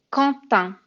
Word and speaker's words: Quentin: Et ça, c'est Quentin. Je sais que ça se prononce pas du tout de la même façon que c'est écrit, mais c'est un prénom français et c'est Quentin.